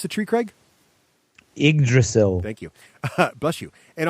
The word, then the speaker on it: Yggdrasil: How do you pronounce the tree, Craig? Yggdrasil.